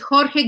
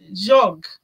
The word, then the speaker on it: Jorge: But another thing, you say Jorge, I was pronouncing him as Jog.